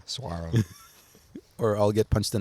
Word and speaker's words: saguaro: that interview he said if you say the g again i'm gonna um punch you in the nuts so that's how i learned how to pronounce suaro saguaro or i'll get punch